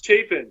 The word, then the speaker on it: Chapin: uh I doing an interview here with chapen am I pronouncing it correctly it's chapen but yeah let close it out okay do